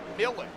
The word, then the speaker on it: Millen: It's Millen. Art yes, Millen. Yes. So like watermelon.